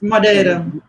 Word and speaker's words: Madeira: so it's an island called Madeira I suppose Madeira Madeira is the right pronunciation and you're in a village of these